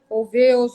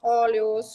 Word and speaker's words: Olweus: tendo a Noruega à frente, o professor Dan Olweus, ou Dan Olweus, como a pronúncia alguns dizem.